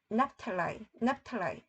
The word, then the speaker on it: Naphtali: 이게 스불론이 즈불론 and 납달리가 납탈라이 ph가 p 발음 나서 그 다음에 tal이가 납탈라이